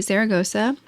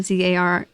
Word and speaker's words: Zaragoza: I spelled it with a Z and an S. So Zara, Zaragosa, and it's double Z's.